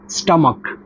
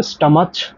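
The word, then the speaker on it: stomach: এর উচ্চারণটা কিন্তু স্টমাকচ হবে না। এর উচ্চারণটাই হবে স্টামাক। ক এর উচ্চারণ হবে। অর্থাৎ কে এর উচ্চারণ হবে।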